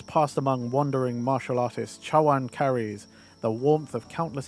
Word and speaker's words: Chawan: I just realized I butchered that. Chara it when it's spelled in English I don't think to read it in Chinese or like in a Chinese way. T- bowl cha is tea obviously and w is bowl ch.